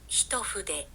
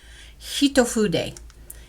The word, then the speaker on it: Hitofude: Hitofude. Hitofude. You hear that? Hitofude is how you say it.